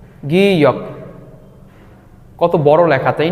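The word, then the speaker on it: 기역: এই বর্ণটিকে কোরিয়ানরা বলে গিয়ক গিয়ক গিয়ক কত বড় লেখা তাই না এইটার মেইন উচ্চারণ হবে গ মেইন উচ্চারণ হবে গ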